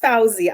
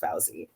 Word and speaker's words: Fawzy: and we'll move on from there so it's pronounced fawzi i know it's spelled fozzy but that was